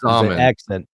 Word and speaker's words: Xaman: Is it Shaman or Zaman? It's Zaman. Is it a Z? Rhymes with Shaman. Zaman. It's XAMAN. Zaman.